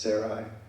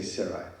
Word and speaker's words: Sarai: Sarai yeah is that I always wonder it's pronounced Sarai yeah I yeah I understand but they say sari and his nephew lot as they we enter